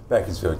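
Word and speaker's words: Beaconsfield: this is field is that's how you say it beckfield yeah not rather than beaconfield it would have started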